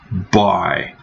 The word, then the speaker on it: buy: Buy. Это как буй пишется, да? Но это buy.